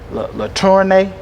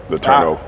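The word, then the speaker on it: LeTourneau: You had a game high 17 against McMurray, and you had a game high 12 against LaTournay or whatever. LaTourneau. I couldn't. I was trying my best to pronounce that.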